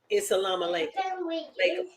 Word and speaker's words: Salam Alaikum: Now, G Bowman said, actually, we may say hi, hello, what's up, Oseo, Hotel, Shalom, Isa, Lama, like, I'm sorry, it's Salam Alaikum.